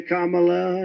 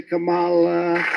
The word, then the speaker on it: Kamala: They were explaining to me you can say Kamala, you can say Camala.